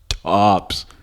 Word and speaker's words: H2Ops: The 2 is silent. Hops. It's just hops.